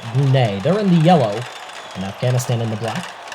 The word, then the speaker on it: Brunei: Or Brunei, depending on how you want to pronounce it, but here on Marble Fubeca, we're going to pronounce it Brunei.